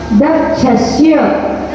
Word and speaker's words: दक्षस्य: दक्षस्य, दा के बाद में आधे का उच्चारण करना है।